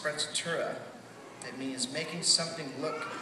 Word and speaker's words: sprezzatura: One of my favorite absolute words is a German word, and it's pronounced sprezzatura.